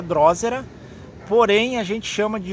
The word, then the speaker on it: drosera: tem esse dilema tá a pronúncia dela seria drósera porém a gente chama